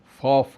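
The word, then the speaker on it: Pfaff: अनीता बोस फॉफ के नाम से, पी फॉफ, पी भी लगता है इसमें, पी साइलेंट है।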